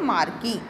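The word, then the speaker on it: marquee: इसे बोलते हैं मार्की। MARQUE, मार्की। मार्की भी कह सकते हैं, आर साइलेंट है, मार्की भी इसे कह सकते हैं।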